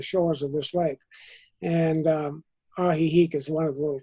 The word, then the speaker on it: Ajijic: It's the way it's spelled is Ajijic, but the way it's pronounced is like a laugh. Ajijic.